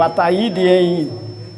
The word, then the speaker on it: Ataíde: O meu nome, eu gosto de vendir meu nome, o ataíde, em duas sílaba, não é? Ataíd é ata e id, não é?